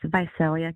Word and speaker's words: Visalia: Visalia. Viselia. Visalia. California. Hello. Hi, Evelyn. How are you? I'm great. Yeah, it's Vicelia, California.